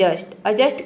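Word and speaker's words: adjust: तो पूरा हो जाएगा अजस्ट डी लेटर इसमें क्या है साइलेंट है अगला एग्जांपल है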